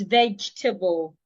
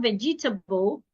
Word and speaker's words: vegetable: Another word is vegetable. Some people will pronounce the word as vegetable. It is not vegetable. Say vegetable. Vegetable.